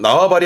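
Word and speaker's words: 縄張り: 그래서 나와바리 하면서 자신의 어떤 영역이라든가 세력의 범위들을 말할 때 나와바리가 이 한자였습니다.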